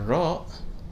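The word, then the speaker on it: راء: on to the letter raw raw which corresponds to the sound of the letter r in english with some little bit of different pronunciation sometimes and you can find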